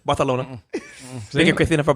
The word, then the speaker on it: Barcelona: You didn't even say it right. You got to say it Barcelona. They let me say it however I want to. You got to say it with a lisp. Barcelona.